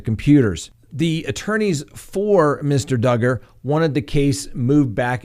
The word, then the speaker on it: Duggar: next on the docket josh duggar rhymes with hugger well he had a